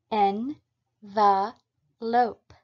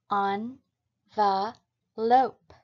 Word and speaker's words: envelope: look at the pronunciations the first pronunciation is in the lope the second pronunciation is on the lope note that regardless of